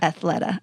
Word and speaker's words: Athleta: can pronounce it right I was calling it Athleta all this time but it's athletica Athleta yeah I think it's I'm pretty sure Athleta okay well um in